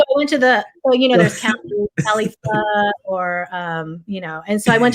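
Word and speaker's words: phở: Restaurant, and so is that that's pronounced pho? Not pho?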